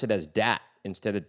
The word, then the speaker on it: Dat: He's American, but his name is spelled D-A-T. And he goes by Dat.